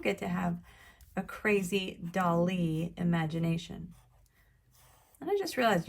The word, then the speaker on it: Dali: your foreground you get to have a crazy dolly imagination and i just realized you might think that his name is spelled like dolly like a baby doll d-o-l-l-y